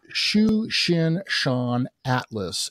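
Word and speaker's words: Tsuchinshan-ATLAS: Comet for us you're the best one at pronouncing you would catch me off guard like that it is Shu Shin Shan Atlas it's c2023 A3 so the 2023 means that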